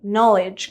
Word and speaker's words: knowledge: Now remember, knowledge contains a silent K as well.